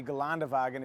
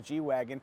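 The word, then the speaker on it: Geländewagen: g65 amg this is the gallon dewagon if you want to pronounce it like the germans or you can just call it the g-wagon whatever you call it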